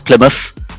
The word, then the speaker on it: Plymouth: it's an area called plymouth hence the muff not mouth most people say mouth but it's plymouth so we uh uh